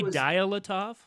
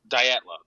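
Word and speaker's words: Dyatlov: There was nine hikers who mysteriously died in 1959 Russia under condition pronounced. Did you say Dilattov? I said Datlo.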